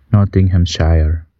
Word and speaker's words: Nottinghamshire: Gimana sih cara bacanya? Nottinghamshire. Nottinghamshire. Okay. Nottingham, not Nottingham. Nottinghamshire. Iya itu, Inggris.